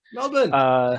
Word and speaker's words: Melbourne: Oh, they're from Melbourne, Australia. Melbourne. Melbourne. Yeah. No, Melbourne. Melbourne, Australia. Melbourne. It is Melbourne. Yep. It's spelled that way, but I think they want you to pronounce it Melbourne.